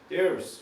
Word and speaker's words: there's: 보통은요 우리가 영어 발음할 때는 there is 이렇게 얘기 안 하고 there는 그렇게 강조하는 부분이 아니기 때문에 there's 이런 식으로 얘기를 많이 해요.